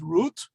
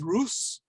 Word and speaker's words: Ruth: We would pronounce it as Ruth. An Ashkenazi speaker would pronounce it as Rus, and probably she would have pronounced it as Ruth.